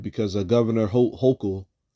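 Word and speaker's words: Hochul: um the new process all right because Governor h hok all right last her name is pronounced Governor uh Kathy hok all right has has written off has signed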